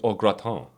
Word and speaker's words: au gratin: Do you like potatoes au gratin? We just call them cheesy potatoes. Cheesy potato. Okay, fair enough. Oh my god. Yep. The formal, because they're French, is potatoes au gratin.